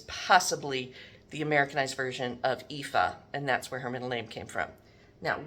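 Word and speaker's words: Aoife: And this is Miss. Nice Irish name. And uh it's spelled A O I F E, but it's pronounced EA.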